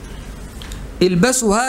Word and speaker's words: البسوا: يبقى البسوا من ثيابكم البياض، البسوا هكذا على وزن اعلموا، البسوا هكذا تنطق على وزن ايه؟ اعلموا، البسوا.